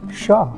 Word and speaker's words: Hsia: is my Fred and Sh spells HS i a is a fanatic translation from Chinese pronounced Sha Sha means summer in